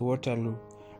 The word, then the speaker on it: Waterloo: we are going to, it's pronounced Waterloo, right?" I said, "Waterloo." Axe shook his head. "No, it's Waterloo, not Waterloo." "Do that for me again." "Waterloo," Axe said, his lips pursing just so.